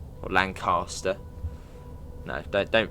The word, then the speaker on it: Lancaster: So basically we're going to be coming off and into Lancaster.